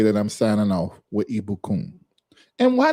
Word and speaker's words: Ibukun: E E B O O O K U N. Pronunciation. Yeah. For that's the pronunciation.